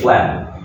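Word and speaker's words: phlegm: And the pronunciation is also, you know, just ignore the the G. Okay. Okay. We call it flam.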